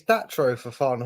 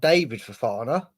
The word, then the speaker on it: Datro Fofana: It's Datro Fofana, not David Fofana. It's David Datro Fofana. No. We want a fancy name. It can't be David for the last so far. It's Datro Fofana.